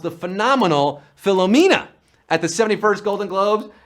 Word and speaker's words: Philomena: of the film that he was suffering from Phil amania well that's how Leonard DiCaprio pronounced the phenomenal Philomena at the 71st Golden Globes and we're down